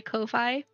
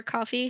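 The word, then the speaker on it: Ko-fi: you go to my Kofi or coffee, however you want to say it. I like saying Kofi cuz it's fun.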